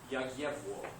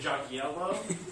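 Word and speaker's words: Jagiełło: It is pronounced probably something like Yagyevwo.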